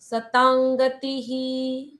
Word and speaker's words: सतांगति: सतांगति जो अनुस्वार के बाद ग आया है इसलिए अनुस्वार आधे ग में परिवर्तित होता है। सतांगति इस तरह से अनुनासिक उंग आ जाता है वहां पर आधे ग के जैसे उच्चारण सतांग ये अनुस्वार के अलग-अलग नियम होते हैं।